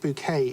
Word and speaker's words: Bucket: other pictures denote well uh bucket pronounced bouquet in only in keeping